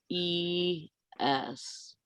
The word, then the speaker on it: Isaias: that Isaiah or Dahlia says it's pronounced Isaias.